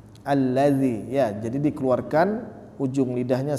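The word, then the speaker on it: الذي: seperti saya katakan tadi jangan sampai ketukar dengan huruf z karena lidah kita tidak kita keluarkan sehingga terucaplah huruf Zai seharusnya kita tahu ee mungkin kita tahu ini huruf dza tapi karena cara pengucapannya salah sehingga terucap Kitalah huruf Zai alladzi ya alladzi Karena ujung lidah tidak kita keluarkan nah tapi kalau kita keluarkan alladzi alladzi ya tidak seperti dia ee huruf Zai alladzi ya jadi dikeluarkan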